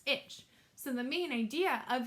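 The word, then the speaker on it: ITCZ: it's called the International Intertropical Convergence zone pronounced itch so the main idea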